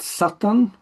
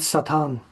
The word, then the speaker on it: Satan: The reason for that is that in Hebrew it's Satan with the stress at the end. But in English when the stress shifted it becomes satan.